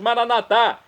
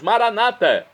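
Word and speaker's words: Maranatha: E agora eu clamo do aramaico, dialeto de Jesus, como dizemos nós católicos, Maranatá, ou como dizem nossos irmãos separados, Maranata. Não importa a pronúncia, o significado é o mesmo, vinde Senhor Jesus.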